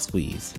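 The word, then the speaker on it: S9EZ: Yes, it's spelled S9 EZ and said like Squeeze.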